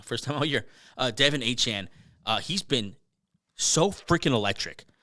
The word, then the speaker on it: Achane: Devin Achane, he's been so freaking electric.